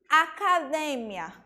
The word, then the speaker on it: academia: se desloca por exemplo em espanhol a gente diz academia em português a gente